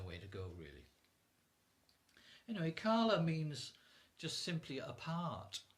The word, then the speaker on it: Kala: would be spelled Kala, so just Kala, but it's a long A at the end.